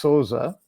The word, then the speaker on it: Sousa: name was John philli Souza in American English but if if that because that's a Portuguese name it would be pronounced SOA yes indeed and so